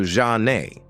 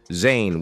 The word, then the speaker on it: Zhané: Renee had the bright idea to jazz up their names by using the French pronunciation of Jean and Renee, turning it into Zhané. They added a Z for extra flair, and just like that, Zane was born.